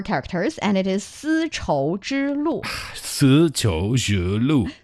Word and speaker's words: 丝绸之路: It is 4 characters, and it is 丝绸之路.